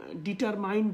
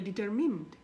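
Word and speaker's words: determined: সো আপনি চেষ্টা করবেন এটাকে, এই উচ্চারণগুলোকে চেঞ্জ করার জন্য, এবং ডিটারমাইন্ড বলি আমরা অনেকেই, সো এটা উচ্চারণ হবে ডিটারমিন্ড, ডিটারমিন্ড।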